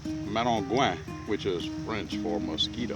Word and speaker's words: Maringouin: It's spelled Maringuin, but it's pronounced Maringouin, which is French for mosquito.